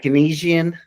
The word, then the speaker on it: Keynesian: But then like Keynesian, is that the right way to say it? Economics? Keynesian. Keynesian. That's Keynesian. what I see what I mean.